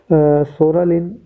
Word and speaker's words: psoralen: पूवा therapy किसे कहते हैं, सोरालिन प्लस पी से कहते हैं PSORALEN, सोरालिन प्लस अल्ट्रा वायलेट ए।